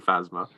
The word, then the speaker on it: Phasma: I don't know how you pronounce that one. The like Chrome Phasma.